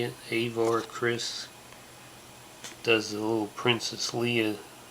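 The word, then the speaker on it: Avar Kriss: master avar chris that's how you say it avar chris does a little princess leah gimmick here appearing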